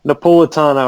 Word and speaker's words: Napolitano: Dan, I always get his last name bumbled, but I think it's Napolitano. Napolitano, I think is how you say it.